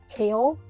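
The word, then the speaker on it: Chaol: captain of the Guard kale it's spelled c h a o l yeah it it's not or there's many pronunciations for it but it is pronounced Kale like the vegetable yeah yeah okay anyway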